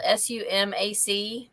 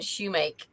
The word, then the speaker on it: sumac: things are pronounced like the tree that's spelled s-u-m-a-c how do y'all pronounce that sumac my parents always said shoemake and i think that's the country way to say it what did robert